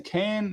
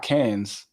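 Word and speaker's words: Cannes: It's it's in can. Am I saying that right? I think the S is silent. It's not cans, but you know what I'm talking about.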